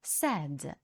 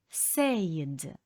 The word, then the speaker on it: said: пара дієслів say sad saidad Pay paid paid Зверніть увагу на те що say у минулому часі читається як said не потрібно читати sayд а але дієслово Pay оплачувати